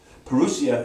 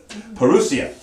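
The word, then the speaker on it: parousia: pronounce it right perusia now there's two ways to pronounce it perusia is the one i'm sticking with because this is an easier way perusia in a spell p-a-r-o-u-s-i-a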